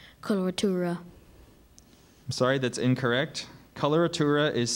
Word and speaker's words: coloratura: word could be confused with a similar word coloratura coloratura definition please the florid ornamentation in vocal